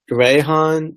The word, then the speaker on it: Rehan: you can call me but it's it's pronounced Rehan but it's written Rehan so you're fine without